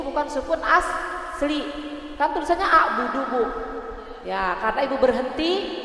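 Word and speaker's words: أعبد: Nah, itu namanya kalau dalam ilmu tajwid qalqalah kubro. Qalqalah kubro karena sukunnya bukan asli. Sukunnya itu baru datang karena waqaf. Karena ada tanda berhenti. Makanya Ibu pantulannya harus kuat.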